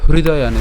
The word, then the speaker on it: হৃদয়ানি: হৃদয়ানি, এটা হৃদয়ানি, দেখেন এটা হ্রি। যদি ইংলিশে লিখি HRI, এই হরি যেটা, এর উচ্চারণটা কার মতো? HRI এর মতো উচ্চারণ করেন, তাহলে খুব সহজে আপনারা উচ্চারণটা করতে পারবেন।